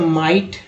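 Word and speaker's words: might: अब आई का उच्चारण आई के रूप में हुआ तो माइट, हालांकि एच यहाँ साइलेंट है, तो पर तब भी पढ़ेंगे माइट।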